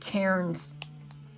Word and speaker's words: Cairn: uh uh vendor named Karen's Karen's Cards and their name is C A I R N and the but the lady uh that was running the store at the time, she pronounced it Karen.